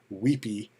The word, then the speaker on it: WebP: the big thing for these and and they're pronounced weepy uh the big thing for these weepy things being that they're google their page speeds